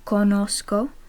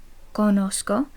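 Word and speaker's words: conozco: I know would be Kosco Kosco and the second person present tense you know would be kosis kosis now notice the Zed in Kosco is pronounced like an S Kosco and that's if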